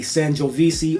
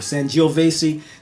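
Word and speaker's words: Sangiovese: of my favorite wines this is a sanisi or san vesi depends on how you pronounce it I've heard it both ways this is the sanio vasy wine out of Tuscany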